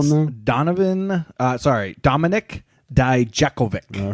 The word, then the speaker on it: Dijakovic: You're going to have to help me with this pronunciation. I know him as Donovan Dijak, but what do they call him now? Dominic Dijakovic.